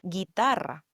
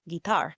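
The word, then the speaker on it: guitarra: Guitar. Guitar. Guitar. The U again is silent. This is a spell like G U I T A R R A.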